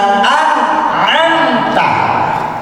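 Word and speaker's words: أنعمت: Contoh, siraqal ladzina an'amta. Nun mati bertemu dengan ain. An'amta. Jangan ada lagi yang baca siraqal ladzina an'amta. Enggak boleh. Harus jelas.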